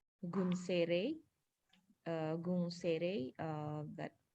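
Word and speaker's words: gunseirei: as i believe it's in japanese it would be pronounced as gun sere uh gun sere uh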